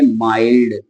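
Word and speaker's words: mild: शब्द बन सकते हैं जिनके लास्ट में एलडी आए तो हम उसको क्या पढ़ेंगे एम आई एलडी को क्या पढ़ेंगे माइल्ड यकीन ना आपको दोनों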